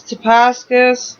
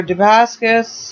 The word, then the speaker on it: Damascus: Now, what is Damascus, or Damascus? I'm pronouncing that wrong. Damascus.